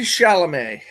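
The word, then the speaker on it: Chalamet: Timothy Shalamé. Chalamé. Okay. Shalamé.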